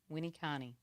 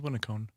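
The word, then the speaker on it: Winneconne: Appreciate Alicia checking my pronunciation of Winnicani. Winnicani. Right? Hopefully I'm saying that right now. She gave me a pronunciation key. I thought it was Winnicone.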